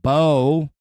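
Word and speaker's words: Beau: and your twin flame Bo, not B.O. like Bo Jackson, gotta sound like a complete fucking douchebag and spell it B-E-A-U.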